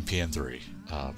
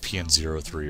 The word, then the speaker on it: P.N.03: So tonight we are continuing PN3, product number 3, which I've been informed is the actual way of pronouncing the title is PN3, not PN03 or PN03.